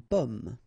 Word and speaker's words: pomme: Okay, so you can see that I pronounce them a little bit, a little bit differently, but then we'll be careful that in many cases people will pronounce them the same way, okay, because in that case normally it should be a bit lower, pomme, and then here more open, so pomme, okay.